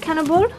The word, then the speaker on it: kanelbulle: You can't pronounce anything right. Hi. kanelbulle? How do you say it? Kanelbulle? Kanelbulle.